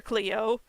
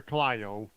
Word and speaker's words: Clio: him off you mean i call her clio because he's spelled with an eye yeah uh yeah clyo just kind of grabbed